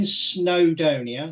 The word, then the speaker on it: Snowdonia: Dave he's gonna have a go at my pronunciation here I was in snowdonia or snow I know you got that right